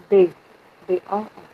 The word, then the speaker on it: bearbeiten: Aussprache. Yes. Übung 2b. 1. Bearbeiten. Bearbeiten. Stress is here. Bearbeiten.